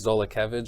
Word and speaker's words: Zolkevage: My name is Zolkevage is how it's pronounced.